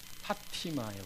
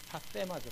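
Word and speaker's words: πάθημα: 그리스도의 파티마예요. 파티마. 파테마죠. 파테마. TH 발음이니까 때가 여기 보면 이 단어예요.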